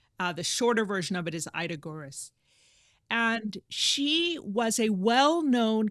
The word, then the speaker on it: Ida Görres: out of This Bread Grows in Winter by Ida Görres.